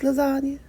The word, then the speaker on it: lasagne: Lasagne. That's how it's spelled. But it's lasagna.